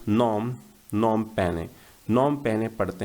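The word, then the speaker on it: Phnom Penh: और जब हम पढ़ते हैं इसको तो नॉम, नॉम पैने, नॉम पैने पढ़ते हैं इसको, ठीक है।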